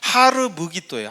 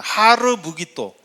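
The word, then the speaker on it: הר מגידו: 어 이전에도 말씀드려서 잘 아시겠지만이 아마게돈의 원래 정확한 발음은 하르무기도예요. 한번 따라해 보겠습니다. 하르무기도.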